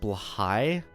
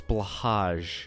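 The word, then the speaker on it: Blåhaj: Learned recently it's pronounced Blahai. No, it's Blahaj. It'll always be Blahaj in my eyes. Because I don't speak Swedish.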